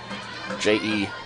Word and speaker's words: Jessica: As we said, and I always say, Jessica is the traditional spelling, J-E-S-S-I-C-A, but is pronounced J-E-S-S-C-A. So just drop the I, Jessica.